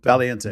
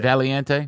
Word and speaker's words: Valiante: Valiante. Valiante. Valiante. Yeah. Um, means the brave, by the way. No. Valiant. Yeah. Yeah. Like Valiant kind of.